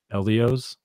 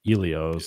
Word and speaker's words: Elio's: Elio's like elephant or Elio's like eel.